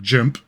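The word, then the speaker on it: GIMP: source image manipulation program some people i think pronounce it jim but i call it so here we are in or jimp create a new project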